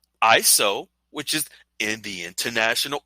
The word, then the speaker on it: ISO: based International Organization for standardization to launch its ISO which is in the International Organization for standardization pronounced ISO 2022 messaging standard it launched in